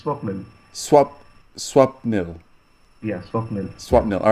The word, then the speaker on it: Swapnil: Is it Swapnil Yes, Tewari? you are right. Bang on. First time, it's Swapnil.